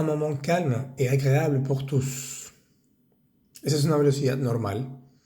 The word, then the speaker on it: tous: calme et agréable pour Tous ese tus pronunciamos bien la s vale es una palabra que termina la frase eh quiere decir todos